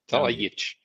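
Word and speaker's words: Talajić: It's pronounced ts, So, but because it has the accent, it becomes ch.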